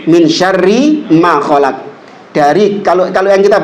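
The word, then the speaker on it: من شر ما خلق: Jadi dia ketambahan nun bacanya min syarin min syarrinya kan min syarri min syarri ma khalaq dari kalau kalau yang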